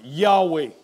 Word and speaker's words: Yahweh: to him I am Yahweh in the Hebrew those are the y-h-wh and we believe it is pronounced Yahweh he said and I appeared